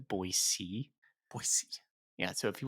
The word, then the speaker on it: Boise: down there is pronounced boyc boyy yeah so if you want to fit in with the locals the locals it's that hard C at the end the silent c don't give it that Z the boy C there